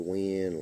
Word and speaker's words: Wynn: his last name, and he said win, like he's going to win the tournament and stuff like that, because he's a smart ass.